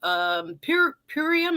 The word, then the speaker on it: Purium: You will see that Miss Annette is a part of a group that has used Purium.